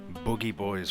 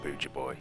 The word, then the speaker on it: Boogie Boy: with the sound of Boogie Boy's voice. Yes, it is pronounced that way. Not BA boy as I previously thought.